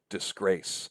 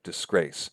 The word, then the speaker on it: disgrace: Disgrace is an example word that fits that pattern. Disgrace. Not disgrace, but disgrace. Da-da. Disgrace.